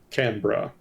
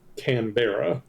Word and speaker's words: Canberra: It is apparently pronounced Canberra.